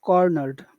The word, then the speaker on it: cornered: important word is a cornered okay all right so we'll make that big which which syllable we get the emphasis coroner which which syllable has all of the emphasis the cor cor okay so that becomes